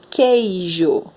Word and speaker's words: queijo: Quando eu pronuncio, por exemplo, que, aqui, ó, essa palavra, queijo, eu não escuto o som do U na minha pronúncia.